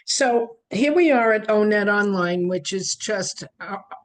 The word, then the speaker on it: O*NET: Hi, this is Donna Sad with Transition Onetop Shop and I've been promising a how-to about